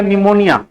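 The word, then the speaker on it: pneumonia: नहीं लिखे वो का कर रहा था जी निमोनिया का स्पेलिंग गलती लिखा है तुम पी से स्टार्ट होगा पी से स्टार्ट होता है हुआ निमोनिया भी बैक्टीरिया से फैलता है।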